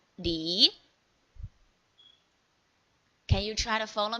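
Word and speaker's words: 梨: This L like English pronunciation, and here is E. So with second tone, we read it as Li.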